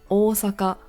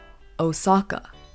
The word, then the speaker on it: Osaka: third City we have Osaka now a very common mispronunciation that I hear is Osaka which is very Americanized understandable but always remember that the O in Osaka is elongated really iconic place in